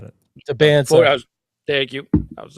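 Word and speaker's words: Dybantsa: And The kid AJ, and I can't pronounce his last name very well, from BYU. Bansa.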